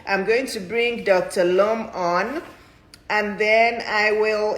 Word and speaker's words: Lum: Lum, like Lum. but it's spelled L-U-M.